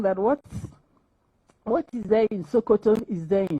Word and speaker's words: Sokoto: In fact, there was this slang that what is there in Sokoto is there in Shokoto. Sokoto is the farthest point northwest of Nigeria. Shokoto. Written the same way, but pronounced S-O-K-O-T-O.